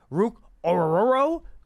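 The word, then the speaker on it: Ruke Orhorhoro: Penn State Michael Hall defensive tackle Ohio State Rook ororo Clemson defensive tackle I love that name so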